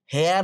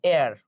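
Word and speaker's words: heir: honest তহলে এ honest হেয়ার বলি না এয়ার উত্তরাধিকারী ঠিক আছে তাহলে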